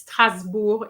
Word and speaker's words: Strasbourg: Okay, so that's why we hear a lot of Strasbourg, but it's Strasbourg in French.